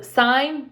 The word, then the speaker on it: sine: students say miss kim that's sin no no no it's sine it's spelled s-i-n-e but if you grab your calculators right now and look for the button it's going to have s-i-n that means sine sine cosine and tangent